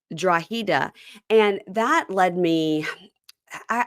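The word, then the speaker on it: Drogheda: of the place where Shawn is from it's draa oh okay it's spelled draga but it's draa and that led me I I got led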